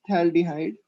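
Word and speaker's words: phthalaldehyde: सो PH is silent here, it's थैल्डिहाइड।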